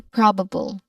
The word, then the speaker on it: probable: First syllable is pro. Again pro. It has a short o vowel sound. Following that is ba. B which has a schwa sound. We are we are familiar with the schwa sound right? So um that is soft. So that this part is soft as well as the last part bull which is we are familiar with that already. The final syllables shouldn't be emphasized too much.